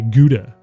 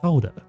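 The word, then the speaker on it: Gouda: you pronounce g g it's probably like H or something isn't he Dutch yeah like like you know us fans would say guda cheese g u da a guda except it's not guda it's how how H ha H oh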